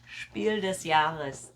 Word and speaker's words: Spiel des Jahres: Spiel des Jahres.